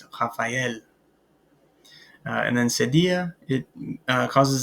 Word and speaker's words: Raphaël: The tréma, this will cause us to pronounce the E essentially. So rather than without the tréma, it would be Raphaël, but it's Raphaël.